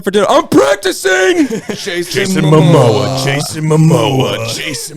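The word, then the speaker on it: Momoa: Jason Mimoa. Jason Mimoa. Jason Mamoa.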